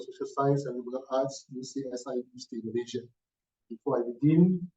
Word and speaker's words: UCSI: No, that's UCSI. Yeah. So okay. So the way to pronounce this is to spell out the letters. So it's not. It's not the youth acronym.